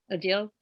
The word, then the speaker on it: Odile: between lily and odile odile again absolutely rhymes with ordeal and and the experience